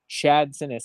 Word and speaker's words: Sinness: For those who don't know Chad, one, he is way more understanding when you can't pronounce his name, even though it is exactly how it spells, than I would be.